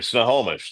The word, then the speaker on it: Snohomish: I have like a tick right now that I can't pronounce it. I'll say it for you. Snohomish.